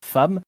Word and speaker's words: femme: C'est pourquoi le E de femme se prononce A.